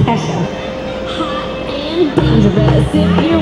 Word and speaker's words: Kesha: Did I pronounce it right? I did. I had to ask. It's Kesha.